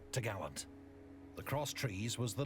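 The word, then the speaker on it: topgallant: trees which secured the top gallant mast pronounced tagaland the cross trees was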